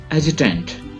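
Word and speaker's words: adjutant: एजुटेंट, एजुटेंट, फौज का मातहत officer. एजुटेंट, डी is silent.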